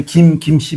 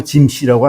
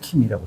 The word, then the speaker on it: 김: 우리 이제 김씨 보고 짐씨라고 안 하잖아요. 그죠? 그렇죠. 짐이라고 안 하잖아요. 이거 누가 만든 거냐면은 서양 선교사들이 그렇게 들었기 때문에 킴이라고 쓴 겁니다. 서양 선교들이. 구체적으로 하면 이제 그게 이걸 맥큐 라이샤오 표기법이라고 합니다. 맥큐. 이건 서양 사람이 그때 딱 들으니까 김이 우리가 할 때는 기억이 아니고 킴으로 들은 겁니다.